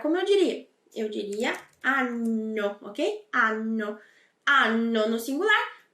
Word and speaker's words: anno: que você entenda que quando tem essas duas consoantes, a pronúncia é um pouquinho mais demorada. Então, eu não digo anno, mas eu digo anno. Anno. É um pouquinho mais demorado, tá bom?